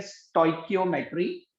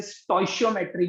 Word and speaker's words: stoichiometry: ठीक है, इसकी जो एग्जैक्ट प्रोनाउंसिएशन होती है वो होती है स्टोइकियोमेट्री, बट कई बार कुछ स्कूल्स में इसे स्टोइशियोमेट्री भी कहा जाता है।